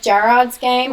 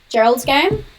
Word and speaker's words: Gerald's Game: It's like Gerard's Game. I always say it wrong. Sorry, I'm going to be really annoying. Gerald's Game.